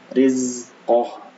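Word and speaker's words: رِزْقَهُ: Nah, ini hati-hati di huruf zai. Zai ini bukan termasuk huruf qalqalah ya. Jadi tidak boleh dipantulkan. Maka dibacanya rizqah. Jangan rizqah, tapi rizqah. Nah, seperti itu.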